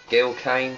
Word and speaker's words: Gil Kane: Gil Kane, as it's pronounced.